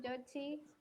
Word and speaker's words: Jochy: Entonces, bienvenido, Pastor Yochi o Hochi, díganos cómo se dice. Muy bien, Andrea, muchas gracias. Mi nombre es Hochi.